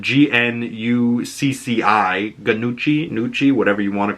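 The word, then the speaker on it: Gnucci: in Little Italy as the Nucci family, and that's spelled G-N-U-C-C-I, Nucci, whatever you want to call it, the Noci, whatever.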